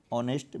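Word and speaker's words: honest: फिर महात्मा गांधी वाज, फिर क्या आएगा इन ऑनेस्ट बॉय। अब देखिए ये ऑनेस्ट है, इसमें एज क्या है साइलेंट है ना, और इसका जो साउंड हो रहा है ये वावेल साउंड है,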